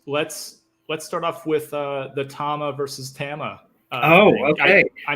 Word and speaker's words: Tama: And he said Tama. So it is very Japanese pronunciation, but I certainly hold that to be the authentic pronunciation. So I say Tama.